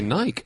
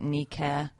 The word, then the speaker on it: Nike: But it means victory in Greek, which you would pronounce in ancient Greek Nike. We think.